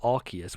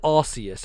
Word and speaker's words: Arceus: everyone was like oh it's arceus because that one guy in the pokemon directs an arceus with a hard c i'm like no this is arceus and it has always been arceus i think they're guilty